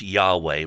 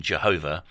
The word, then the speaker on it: Yahweh: They didn't have a J sound as we have in our uh alphabet. So, it would have been pronounced more as Yahweh rather than Jehovah as your kingdom into linear translation.